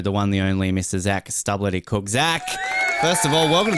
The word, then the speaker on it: Zac Stubblety-Cook: It's not Zac Stubblety-Cook, it's Zac Stubblety-Cook. So we've got to pronounce the L right.